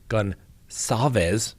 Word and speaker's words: Goncalves: And they are denying telling the family of victim Kaylee Goncalves, that's right, soft C apparently, almost sounds like an S, that her injuries were more brutal than those of other victims.